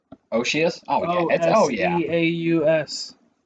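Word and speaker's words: Oceaus: Yeah, dude, Oshius. Oshius? Oh yeah, yeah. Oseaus. I don't care if that's not how you pronounce it. That's how I pronounce it, and I'm the fucking All one who right, created.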